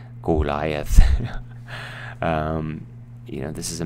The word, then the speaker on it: Goliath: Goliath I put this in here for the pronunciation Goliath you know this is a match between David